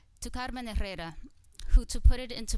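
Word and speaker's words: Herrera: and lastly - Carmen Carrera the H is silent by the way - Carmen Carrera who to put it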